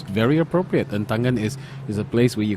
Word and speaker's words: Entangen: This cafe is called Entangen, E-N-N-T-A, Ta, and then N-G-E-N, Ngen. So this is called Entangen.